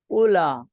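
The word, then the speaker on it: أولى: یہی مطلب ہے۔ वल उला, वाव साइलेंट है, उला उला के वजन पर।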